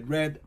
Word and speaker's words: read: ahora miren que cóm se escribe read r red pero la pronunciación de red es como si fuera el color rojo pero se escribe Exactamente